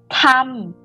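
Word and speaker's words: ทำ: t tan toe t when you pronounce this you have to feel the wind in your palm t t tum tum to make or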